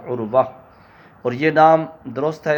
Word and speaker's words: عروہ: الف لگا دیتے ہیں۔ اس نام میں جو وا آتی ہے نا، را کے بعد، اس وا کے بعد الف لگا دیتے ہیں، عروہ۔ تو یہ تلفظ ٹھیک نہیں ہے، صحیح یہ ہے کہ واو کے بعد ہا، عروہ۔ اور یہ نام درست